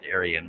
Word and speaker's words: Iriun: I guess it's pronounced Arian, but it's supposed to use your phone as a webcam.